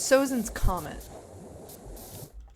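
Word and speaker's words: Sozin's Comet: Also, it's Sozin's comment. Skelly kind of muttered from the other room that I mispronounced the Fire Lord's name or whatever.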